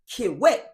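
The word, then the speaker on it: kiwete: But just because keyway may be slang and not the proper way to say it, kiwet, K-I-W-E-T, means crip or cripple in Swahili.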